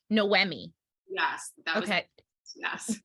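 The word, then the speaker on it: Noémie: So, I hope I'm pronouncing it correctly. Noemi.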